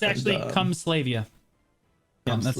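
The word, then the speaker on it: Kamasylvia: But they told me not to throw away these books right here from Kamislava or all that stuff. It's actually Kumslavia. Yeah, that's how it's pronounced.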